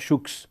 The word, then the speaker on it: Choux: La première idée, la première histoire magnifique à mes yeux, c'est celle de Pierre Choux. Je prononce ça avec un X, il est à Dijon.